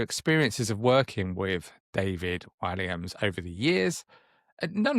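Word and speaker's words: Walliams: Is it Wams? Is that how you pronounce it? Williams. Williams.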